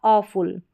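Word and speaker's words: awful: तो इसको पढ़ा अ फुल। क्या पढ़ा? अ फुल। ए डब्ल्यू का उच्चारण अ करके हो रहा है। यहां पर जो डब्ल्यू है यह साइलेंट है। इसका उच्चारण नहीं हो रहा है।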